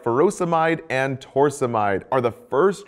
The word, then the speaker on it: furosemide: Potassium wasting ends in "-ide," like furosemide or hydrochlorothiazide. Both rhyme with dried.